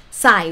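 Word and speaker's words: ใส่: a little bit more the word sai say good sai with low tone means to put in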